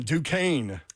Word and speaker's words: Duquesne: Number 11, Duquesne. Negative, but I like that you pronounced it correctly.